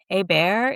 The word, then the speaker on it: Hebert: I know that one of my co-hosts this fall is gonna be Amber Hebert is how she pronounces it.